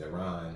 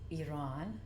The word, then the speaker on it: Iran: me ask you this too how do you pronounce Iran is it Iran or how was what's the way to pronounce it happy Friday everybody it is pronounced Iran that's right but a lot of people say